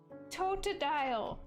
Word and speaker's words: Totodile: Totodile. Did I spell it wrong?